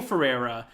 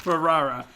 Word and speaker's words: Ferrara: It's Abel Ferrera. Am I saying his name wrong still? Yeah, Ferrerra. Ferrara. Tomato.